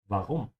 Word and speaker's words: warum: Don't be lazy with a W sound. In German, it's a V. Yeah, I know it can be easy to just ignore that, but just don't, because it sounds very weird when you pronounce it as wa.